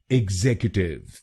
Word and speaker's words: executive: और ये ध्यान रखिए कि हमको दूसरे शब्दांश पर यानी XEC पर जोर डालना है। एग्जीक्यूटिव, एग्जीक्यूटिव। गलत प्रोनाउंसिएशन में हम CU पर जोर डालते हैं, एग्जीक्यूटिव। तो अब से इसको एग्जीक्यूटिव नहीं बोलिए, इसको बोलिए एग्जीक्यूटिव, एग्जीक्यूटिव।